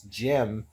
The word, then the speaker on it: GM: Now Jim or from Mobile Gun the original Sears now Jim or GM I think it's pronounced right. It's Jim.